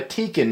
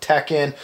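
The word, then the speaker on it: Tekin: here well you know I am a tiken man I have been some of you guys pronounce it Tekken uh tiken has been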